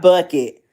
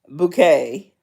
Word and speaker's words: Bucket: Not Bucket. Bouquet. It's spelled bucket, but she pronounces it bouquet.